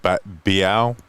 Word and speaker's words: Bo: I think you pronounce it Biao. Bo. I'm going with Bo. Yeah, it's Bo. Yeah.